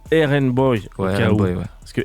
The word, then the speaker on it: RnBoi: très content de t'avoir RN boy qu'on prononce du coup aen boy au cas où parce